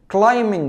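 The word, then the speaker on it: climb: اللي بتتسلق على الجبال كلمه تسلق يعني ك ك كلاين وخد المعلومه دي كل ما تلاقي حرف الام مع حرف البي حرف البي ها البي مش البي لا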